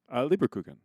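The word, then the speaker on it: Lebkuchen: Leberkuchen.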